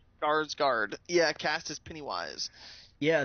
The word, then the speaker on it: Skarsgård: How do you pronounce the last name there? Skarsgård. Skarsgård.